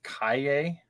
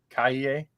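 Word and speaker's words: Calle: say that I think her last name is pronounced Kaye. Kaye.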